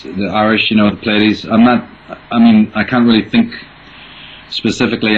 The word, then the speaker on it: Pleiades: And I'm definitely going to pronounce this one wrong, because I just know I am. What are Michael's thoughts on Plaeides? Pleiades. Pleiades? Is that what it is? Yeah, Pleiades.